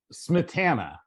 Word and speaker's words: Smietana: Smietana.